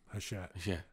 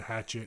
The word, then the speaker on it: Hachette: So, it took me like a whole month to figure out how to say their name, Hachette, as opposed to Hatchet.